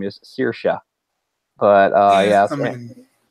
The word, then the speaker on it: Saoirse: of stuck with me that her name is Saoirse but I yeah it's kind of Sanibel cuz